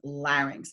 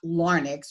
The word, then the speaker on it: larynx: the scientific term is larynx and the correct pronunciation is larynx Like Larry not larnix which is a mispronunciation in this region nasal cavity okay so